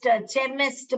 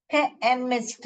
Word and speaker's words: chemist: है तो ये देखिए अभी हम इसको च पढ़ेंगे ना तो चेमिस्ट बन जाएगा क्या बन जाएगा चेमिस्ट बन जाएगा तो इसको हम चेमिस्ट थोड़े ही पढ़ते हैं क्या पढ़ते हैं हम केमिस्ट केमिस्ट पढ़ते हैं हम क्या करते हैं